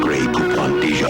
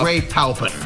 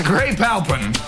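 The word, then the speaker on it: Grey Poupon: Like gray poop mustard. It's grape palpin. It's gray palpin.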